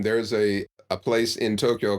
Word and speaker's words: Tokyo: they'll pronounce the Japanese cap battle with three syllables it only has two Tokyo and it's a lot if the toe is long Tokyo the kill is shorter than the old in oh uh Tokyo a lot of Americans will say Hiroshima when